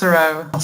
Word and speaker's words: SARAO: How do you pronounce it? It's SARAO, South African Radio Astronomy Observatory.